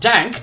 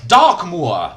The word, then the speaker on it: Darkmoor: Not Dank, Darkmoor.